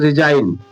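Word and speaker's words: resign: इसमें देखिए अंत में जीएन है तो इसे क्या पढ़ा जा रहा है? रिजाइन रिजाइन। अब इसको जी को साइलेंट कर दिया जा रहा है, सिर्फ इसको साइलेंट करके रिजाइन रिजाइन, जी को साइलेंट कर दिया गया।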